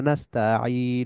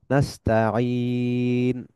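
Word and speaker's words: نستعين: গেলে এটাকে ধরতে হবে সুকুন তার মানে আমরা নাস্তা বলবো না আমরা বলবো নাস্তা তারপরে আছে সিরাতাল মুস্তাকিম এখানে দেখেন বেশ কয়েকটা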